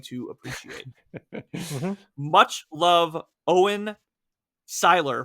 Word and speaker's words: Seiler: Much love, Owen Seiler, pronounced Seiler, not Sailor. Have we said I've Sailor been before?